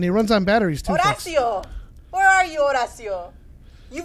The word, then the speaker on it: Horacio: By the way, that's how you say his name. It's Horacio. Horacio. Horacio. Not Horatio.